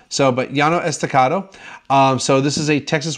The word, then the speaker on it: Llano Estacado: to the next set of wines alright so yano estacado or as probably most of the texans hearsay